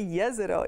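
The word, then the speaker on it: Jezero: crater wrongly it's actually yes it oh it comes the name comes from the name comes from a bosnian town right here in bosnia or sagovina so it's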